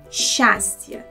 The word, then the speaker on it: счастье: So, the correct variant is the second one, счастье.